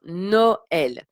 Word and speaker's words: Noël: Donc pour Noël, hein, vous voyez, il y a le tréma. Donc c'est pour ça qu'on prononce de manière séparée les deux voyelles. Hein, Noël.